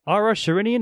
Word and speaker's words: Ara Shirinian: very special interview with Ara Shirinian. Am I getting your name right, correct? You know what, that's the first time I actually heard you pronounce my whole name, and it's exactly correct.